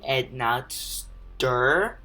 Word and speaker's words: Enotsder: off a Napster uh in case you don't know i pronounce it it's actually add not stir those people who cannot